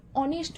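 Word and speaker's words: honest: ব্যবহার করব যেমন অ্যান অনেস্ট ম্যান এখানে অনেস্ট এই কথাটা শুরু হচ্ছে এইচ কনসোনেন্ট দিয়ে তাহলে নিয়ম অনুযায়ী আমাদের এ বসার কথা কিন্তু এখানে এইচ টা উচ্চারণ হচ্ছে অ এর মত অনেস্ট ম্যান অচ্চারণ হওয়ার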